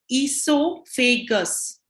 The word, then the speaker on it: esophagus: the next one is esophagus that's how you say it esophagus okay can you all say it to yourselves also e so so o e becomes e i mean or iso